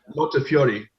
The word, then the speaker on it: Montefiore: Bag Montefiore, if that's how you pronounce his name. Montefiore.